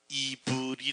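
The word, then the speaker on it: עברי: 아니고요 히브리 하는 말에 원래 히브리어로 직접 발음을 하면 이브리 아는 말이에 이브리 이브이는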